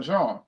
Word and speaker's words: Jean: Now we're going to go to Jean, which rhymes with dawn.